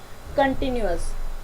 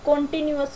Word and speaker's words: continuous: Next हमारे पास क्या है, कंटिन्यूअस। कंटिन्यूअस, आप इसको कॉन्टिन्यूअस नहीं बोलते, कंटिन्यूअस प्रोनाउंस करते हो, CONTINUOUS, कंटिन्यूअस, ना कि कॉन्टिन्यूअस।